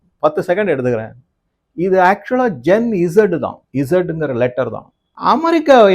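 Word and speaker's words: Gen Z: சார் அது ஜென் சி சார். அங்க C letter C இருக்கா இல்ல இசட் இருக்கா? அவங்க அந்த மாதிரி ப்ரொனவுன்ஸ் பண்றாங்க, ஜென் சி அப்படின்னு ப்ரொனவுன்ஸ் பண்றாங்க. ஆனால் அது ஜென் இசட் தான்.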